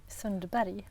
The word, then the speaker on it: Sundberg: Hey folks, so today we're here with Anja Sundberg. Sundberg? Sundberg. Really? Is that how you say it? Anja Sundberg. Wow. Yeah. Everyone says Anja Sundberg. Oh, but No? it's Berg in Swedish.